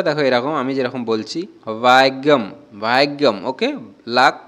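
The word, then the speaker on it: ഭാഗ്യം: ভাষায় কিভাবে বলবো তো মালায়ালাম ভাষায় এটাকে বলবো ভাগ্যম ভাগ্যম এরকম কিন্তু একটু উচ্চারণটা অন্যরকম ভাগ্যই বলে তো উচ্চারণটা দেখো এরকম আমি যেরকম বলছি ভাগ্যম ভাগ্যম ওকে লাক বা ভাগ্যকে আমরা মালয়ালাম ভাষায়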